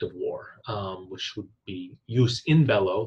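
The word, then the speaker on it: jus in bello: war which would be use in Bello the J is in Latin pronounced the Y sound but but use in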